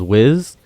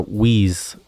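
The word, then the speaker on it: Whis: I believe the best right now is Wiz. It might actually be a reason to pick Wiz because, or Wheeze. I say it wrong every time. Wheeze. Better to pick Wheeze.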